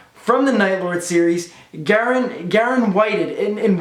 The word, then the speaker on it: Whited: the Nightlord series, Garon Whited. And Whited, you said that's how you pronounce it, right, Garon? Yes, it's the past tense of white.